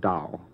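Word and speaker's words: Tao: emanated from the dow that's the dow tech king that's t-a-o t-e-h-k-i-n-g you would call it probably normally tau tech king i don't know why they spell it with a t i've never heard it called anything but dao well it must have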